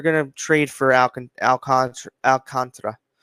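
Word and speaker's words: Alcántara: you know, a lot of talk today about Sandy Alcantra. Alcantra is how his name's pronounced and you know, a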